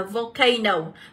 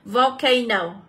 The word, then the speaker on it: volcano: Tiếp theo đáp án C thì các em sẽ được đọc là Volcano. Volcano. Đây thì chúng ta sẽ nhận trọng âm và âm A là âm số 2.